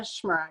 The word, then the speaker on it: Shmurak: last name i forgot to ask you the pronunciation so susannah schmerk sorry i should have asked you before we